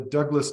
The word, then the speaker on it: Dubh Glas: today our friend Grant Steve Lee from the Douglas Distillery spelled dub glass but it's pronounced Douglas distillery in the Okanagan has joined us uh